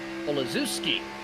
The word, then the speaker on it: Olazuski: way through, as we appreciate the correct pronunciation for Andrew. It's Andrew Olazuski.